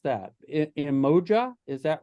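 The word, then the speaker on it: Umoja: had written down in my notes how to pronounce that emoja is that right right yes right and it's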